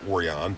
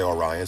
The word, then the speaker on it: Orion: / Orion ho video or oron as my good buddy Rob says uh so I you know it really should be pronounced oron but you know we say Orion so this is a